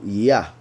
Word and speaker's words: Yah: Then, as I already explained, these two letters are pronounced Yah, as in Hayah, and as in Eliyah, and a bunch of other prophets. So Yah, as also in the Psalms, David calls Yahweh by this title, Yah.